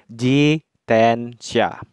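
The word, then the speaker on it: 自転車: Nah, kanji ini itu dibacanya jitensha. Jitensha, yang artinya sepeda ya, minasan.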